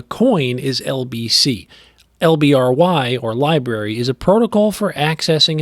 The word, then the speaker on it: LBRY: lbc protocol library credits lbry which is pronounced library is a decentralized digital content marketplace the coin is lbc lbry or library is a protocol for